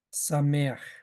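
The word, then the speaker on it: שמח: vamos a poner aquí que esto se transliteral o se pronuncia sameaj sí Qué significa alegría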